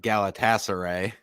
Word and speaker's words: Galatasaray: Aaron, how you pronounce Galatasaray? Oh, Jesus. We did this before the show started, so I said Galatasaray.